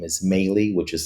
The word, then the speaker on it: Melih: Um, my name is Mey, which is spelled M as in Mary, E is in Edward, L is in Larry.